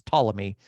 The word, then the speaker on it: Ptolemy: another one is named Ptolemy which actually starts with a p and a t but you don't pronounce the P it's it's Ptolemy and his dynasty is